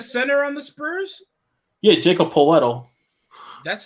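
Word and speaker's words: Jakob Pöltl: you mean the center on the spurs yeah jacob poletto that's how you pronounce his name charles barkley when when i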